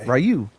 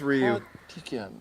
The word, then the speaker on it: Ryu: When I throw my Rayu fireball, I say, is that how it's pronounced? Let me No, it's Ryu.